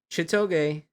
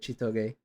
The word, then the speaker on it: Chitoge: So Chitoge, that's how you say it, Chitoge.